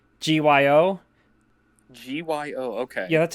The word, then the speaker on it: Gyo: I think Gyo, Gyo. Gyo. Okay. Yeah, that's how you spell it.